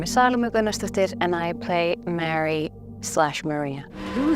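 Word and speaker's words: Salóme Gunnarsdóttir: been avoiding saying out of fear that I'd pronounce it incorrectly this whole time. My name is Salome Gunnarsdottir and I play Mary/Maria.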